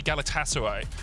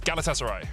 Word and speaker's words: Galatasaray: couple of tweets saying don't say galatasaray so it's galatasaray yeah we'll try if you're turkish and you hate my pronunciation tweet at me i